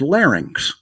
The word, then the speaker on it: larynx: And the word is larynx. and he pronounced it lin. So he did the same thing I did turning the last two symbols around and they gave him credit for it.